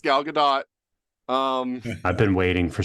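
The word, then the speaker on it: Gal Gadot: again everybody says GD her name is actually pronounced galgadot um I've been waiting for someone to say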